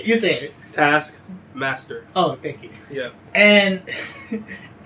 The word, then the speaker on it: Taskmaster: Taskmaster. Oh fuck. No. You say it. Taskmaster.